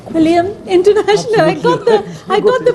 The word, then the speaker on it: Quilliam: Quilliam International. I got the pronunciation finally.